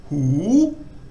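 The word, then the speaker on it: หู: So high class initial consonant and live syllable gives a rising tone. So hoo. So it starts off normally and then rises.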